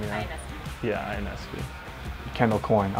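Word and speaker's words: Ionescu: Can never pronounce her last name, yeah. Inescu.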